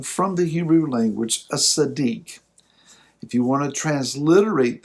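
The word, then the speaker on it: tzaddik: d i k sadiq when you see the hebrew letters transliterated t z it's kind of like the the sound of the z and pizza it's got a t in there so a sadique a sadiq is one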